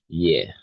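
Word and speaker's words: hier: Remember for these words, you don't pronounce the H. It's year.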